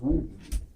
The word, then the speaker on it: Woden: But it's actually pronounced Woden.